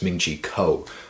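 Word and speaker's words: Ming-Chi Kuo: And man, I pronounced his name wrong again. It's Ming-Chi Kao.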